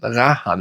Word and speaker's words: Rayhaan: Ja, Jungle Vibe von Rahan. Rahan, wenn richtig ausgesprochen.